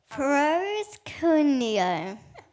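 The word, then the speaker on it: προσκυνέω: So it's spelt out underneath. Can you read that? In brackets. Proskuneo.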